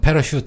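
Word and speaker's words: parachute: CH가 프랑스어의 영향을 받아갖고요. 취 이 발음도 아니고요. 쉬 발음 됐어요. S자 이렇게 길게 눌려놓은 거 있지 않습니까? 그래서 패러슈트 하면은요, 나란하게 떨어지는 것.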